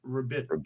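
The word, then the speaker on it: Ribić: rabik rabik i like rabiq better well the i is an e and the c is a che so it's rabbit all right that's the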